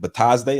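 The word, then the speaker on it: Bitadze: Batazde?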